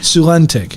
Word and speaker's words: Sulentic: Sulentic. Yep. Put the accent on the wrong syllable too.